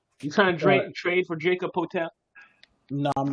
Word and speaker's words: Jakob Poeltl: You trying to trade for Jacob Potel? No, I'm not. Hell no. Turtle can stay his ass over there. How do you say his Bro, name? don't make me throw Jakob Poeltl. Jakob Poeltl.